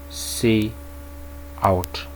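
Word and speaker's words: cout: need to understand here it is pronounced as c out okay what is use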